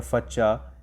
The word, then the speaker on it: facha: A first-year fresher is called a facha in DU, rhyming with the Hindi word for a kid, bacha.